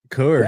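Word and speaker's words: Coors: I like regular like I drink Kurs. Drink Michelob all. Oh, okay. Got to say it right. Curse. Course. Yeah. Oh, course.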